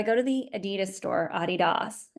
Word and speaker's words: Adidas: to the Adidas store Adidas as it's pronounced in Germany and the line hour